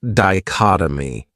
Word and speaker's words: dichotomy: Another great noun is dichotomy. This word has 4 syllables, and the stress is on that second syllable, dichotomy. That third syllable has that schwa, that sound. Dichotomy.